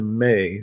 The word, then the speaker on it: me: One of the most salient stories is Inanna's receiving the May from Enki. So a May is spelled M-E, pronounced M-A-Y.